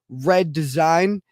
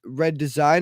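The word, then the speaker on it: Reddesygn: on their YouTube channel, which is his it's Red Design, but it's spelled R.E.D.D.E.S.Y.G.N. That's Red Design, and it's on YouTube.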